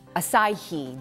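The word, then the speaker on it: açaí: first one is and this one I always mispronounce I always say a whatever uh the word is acai that's how you're supposed to say it now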